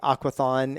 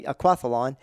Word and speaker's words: aquathlon: favorite is called the aquathlon a lot of people say aquathon and that's becoming more accepted as the way to pronounce that word but it's actually aquathlon and that is a